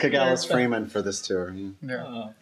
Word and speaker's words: Kagalis: and Kagalis.